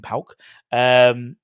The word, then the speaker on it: PAOK: But that's how you pronounce it properly, AEK and PAOK.